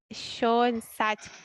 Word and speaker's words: Schoenstatt: Eu talvez tenha um pouco de dificuldade para pronunciar, mas no Instituto Secular das Irmãs de Maria de Schoenstatt, como pronuncia?